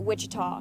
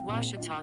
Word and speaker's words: Ouachita: oh a cheetah oh back in texas everybody pronounces it wichita but really it's ouachita washington washington how would you pronounce it it's washita baptist university get it